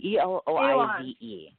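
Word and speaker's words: Éloize: associated with the, it's called Cirque, is it Eloy? I don't know how to pronounce that. Eloize.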